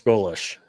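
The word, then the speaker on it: Golesh: Alex, is it Goulf? Is that how you pronounce his uh Alex Golish?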